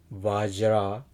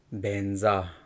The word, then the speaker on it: vajra: Some people pronounce Om A Hung Vajra Guru Pema Siddhi Hung. Some people pronounce Om A Hung Benza Guru Pedma Siddhi Hung.